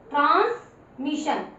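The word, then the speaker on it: transmission: उसके बाद TRANS, trans, TR BR ब्र, GR ग्र, ऐसे ट्रांसमिशन, MI और डबल SION को किसके साउंड देनी है, मैं टिक मार्क कर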